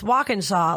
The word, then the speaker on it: Walkinshaw: It seems intimidating, even though I'm always like, it's Walkinshaw, like walk like the action, It's very in like the phonetically- preposition, Shaw like the Shawshank Redemption.